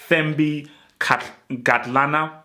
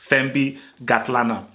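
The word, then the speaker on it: Thembi Kgatlana: Shout out to Thembi Gatlana. I believe, again, South Africans, correct me if I'm wrong, but I believe the K is silent. So Thembi Gatlana.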